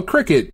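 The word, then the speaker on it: Cricut: ] a cricket is no cricket it's the it's spelled cry cut it's the [ __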